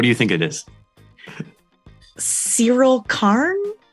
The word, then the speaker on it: Syril Karn: Syril Karn? Syril Karn, yeah.